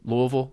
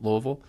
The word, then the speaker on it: Louisville: who teach on the Louisville campus and that's how you say it Louisville um not Louisville not Louisville Louisville um I went to